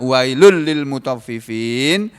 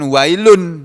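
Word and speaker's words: ويل للمطففين: alay pertama tadi Pak wailul Lil muthaffifin ini membacanya kan bukan wailun tapi wailul Lil Wayne Lulu Lili enggak boleh mendengung ya wailul Lil gak boleh begitu Hai biasa aja wailul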